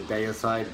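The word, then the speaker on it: Deicide: mentioned in previous videos disputed pronunciation about this band the other side day aside depends on how you say it as i said i grew up in australia so i say day aside but it depends on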